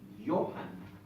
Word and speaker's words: Johann: Entonces, este apellido se pronuncia, este nombre de pila, que es Juan, se pronuncia como I, Johann.